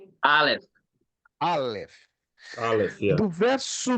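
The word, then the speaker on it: אלף: O Aleph não se escreve com A, L, E, F, E. Não, se escreve com a letra hebraica Aleph, que parece um X, um xizinho, certo? Mas a pronúncia é Aleph.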